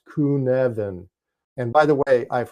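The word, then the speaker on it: Cynefin: an English standpoint or standpoint we call it cinen right c y NE f i n copen but it's actually pronounced kunan and by the way I've heard more people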